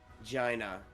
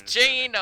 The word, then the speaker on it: Jaina: make a move towards Gina uh all right I still can't believe that's the kid that's the name it's jaina I just pronounced it wrong uh unfortunately you can't